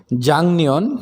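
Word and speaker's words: 작년: কিছু শব্দ অর্থ আছে জাং নিয়ন মানে গত বছর এটা জাক হবে না কারণ গিয়ক বাচ্চামের পরে নিয়ন থাকলে গিয়ক এর উচ্চারণ ইয়ং এর মত হয়ে যাবে অর্থাৎ ইয়ং হয়ে যাবে তাহলে জাং জাং নিয়ন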